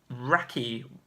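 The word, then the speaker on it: Wracky: so Matt Vale with I think you pronounced out rocky what rate is right Rach you ace it struggled with your odds you'd struggle with that one correct so it's yeah WRA CKY rocky races Matt vales 108 points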